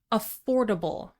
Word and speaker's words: affordable: The next adjective is really useful, affordable, affordable. Four syllables, stress the second syllable.